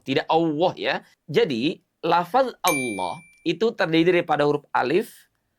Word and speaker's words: Allah: Jadi pastikan tidak kita ucapkan dengan bunyi Allah memonyongkan kedua bibir kita. Sebagaimana kita memonyongkan kedua bibir untuk mengucapkan huruf wa.